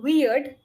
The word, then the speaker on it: weird: this and if you are not able to pronounce the word weird easily, right? So First you we can say use we, we then ard. weird.